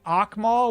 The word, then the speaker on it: Amal: Cuz the original thought process was like saying Amal with like a you got to say it from the back of the throat cuz it was for